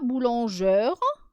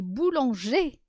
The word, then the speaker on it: boulanger: à la fin d'accord on ne dit pas boulangeur on dit boulanger alors nous avons la